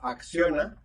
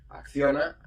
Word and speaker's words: Acciona: On one hand, we have Acciona, as we say in Spanish, well, in some part of Spain, because not all the Spanish people pronounce the C, no? Acciona, if you want.